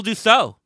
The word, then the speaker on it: Dussalt: hard to do but he did it do so how are you did I am I pronouncing it correctly by the way yep you're